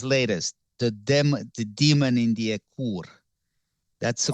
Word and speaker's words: Ekur: Read his latest, The Demon in the Ekur. That's the correct pronunciation, by the way.